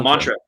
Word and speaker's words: Maentra: old changeover to was your new Band Please pronounce it for me oh mantra Mantra um I know the the the symbol